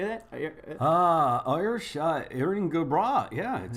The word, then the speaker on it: Erin go bragh: Irish Erin go bragh.